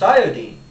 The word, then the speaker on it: iodine: YouTube by the way iodine is pronounced iodine to rhyme with Florine chlorine and bromine in case you want